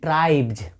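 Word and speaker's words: tribes: है आपका बी है जब इसके पहले बी हो तो एस का उच्चारण क्या हो जाएगा इसका उच्चारण हो जाएगा जे तो इसको पढ़ेंगे ट्राइब्स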